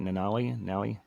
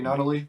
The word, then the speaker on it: Nunnally: Yeah, I'm really intrigued how they are able to keep guys like Fish, like how do you say it, Nally? CJ Nunnally, yeah, Nunnally.